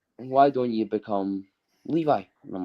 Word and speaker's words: Levi: So it's actually pronounced Levi.